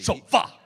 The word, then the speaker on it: Shol'va: You roll the two syllables together like there's no apostrophe. Sholva! Yes. You've got to honor the apostrophe if you're going to be part of the Stargate family.